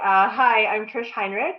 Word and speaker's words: Heinrich: today I have Trish Hinrich and I probably have said it wrong so Trish say hello everybody incorrect your last name if I sit along please you said it perfectly hi I'm Trish Heinrich it's wonderful to be